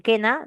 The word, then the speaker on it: quena: Eh, Ana, sí, no sé en quena no hay diptongo. Hay dos sílabas, que na, no se cuenta la u, ¿no? Porque no suena.